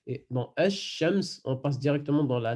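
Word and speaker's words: الشمس: Le lam, il ne se prononce pas. Donc, ça donne Ash-Shams.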